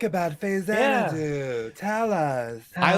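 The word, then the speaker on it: Faxanadu: Anyway, what do you What do you like about Fazanadoo? Tell us. Tell us. I like that. I can pronounce it two different ways because you could go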